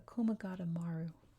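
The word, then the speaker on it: Komagata Maru: I keep mispronouncing it. The Komagata-Maru.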